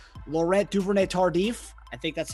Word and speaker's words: Duvernay-Tardif: It's a French-Canadian name, Laurent Duvernay-Tardif. I think that's how you pronounce it. Duvernay-Tardif.